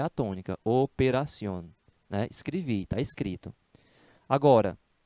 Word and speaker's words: operación: uma sílaba mais ou o operación não é assim operación é operación então o assento deve ser na vogal forte né lembra aí do que